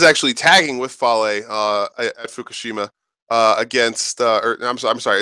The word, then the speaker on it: Fukushima: Leo is actually tagging with Fale at Fukushima against. I'm sorry, it's pronounced Fukushima.